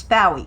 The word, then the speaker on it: Bowie: If y'all don't know by now, my name is Bowie. It rhymes with wow.